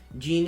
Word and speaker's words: Jean: peek oh my goodness i don't know why i'm saying gene i know it's pronounced jean but it's i'm gonna start saying jean that's how it's pronounced it's just you read